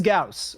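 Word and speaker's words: Gauss: Pronounce. Say, it is Gaus.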